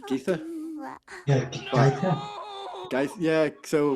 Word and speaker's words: Githa: and some of them say Verence, Then- some of them say Verence, but they all say Githa for Nanny, whereas I always thought it was Geetha.